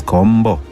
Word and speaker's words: Campbell: Yes, the local pronunciation of the name Campbell at the time was Kombo.